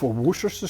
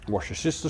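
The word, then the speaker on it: Worcestershire: 1/3 cup of worers sauce. Washer sister sauce. Woo sauce. Whichever pronunciation you prefer.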